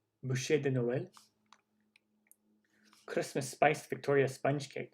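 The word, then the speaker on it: bûche de Noël: sticky toffee pudding chocolate boucher de noel we already looked at that on the other list i think i pronounced that right boucher boucher buche de noel christmas spice victoria sponge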